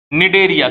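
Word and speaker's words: Cnidaria: Phylum में आते हैं, निडेरिया। किस फाइलम में है, टी साइलेंट होता है, कौन से फाइलम में, निडेरिया।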